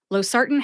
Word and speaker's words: losartan: Losartan has 3 syllables. Low, like low-hanging fruit, SAR, like